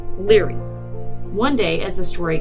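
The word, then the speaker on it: Lóegaire: County meath his name was Luger which is pronounced Leary one day as The Story Goes High King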